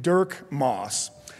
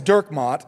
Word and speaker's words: Dirkmott: he thought was named Dirk Moss. My last name is Dirkmott, and it's a very Dutch name, and it's very difficult to pronounce.